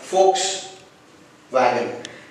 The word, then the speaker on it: Volkswagen: As it's a German word, the letter V should be pronounced as F and letter W should be pronounced as V here, like Volkswagen, which means a people's car here.